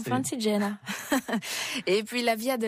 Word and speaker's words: Francigena: on prononce comme ça Oui, en italien Francigena. Ah c'est mieux, Francigena.